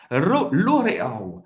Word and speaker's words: L'Oréal: L'Oréal. L'Oréal em francês. L'Oréal é L'Oréal. L'Oréal. A gente vai pronunciar o L no final. L'Oréal.